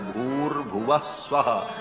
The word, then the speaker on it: भूर्भुवः स्वः: विसर्ग को र हो करके और फिर वो र ऊपर चला जाता है तो भूर्भुवः स्वः ऐसा उच्चारण होता है।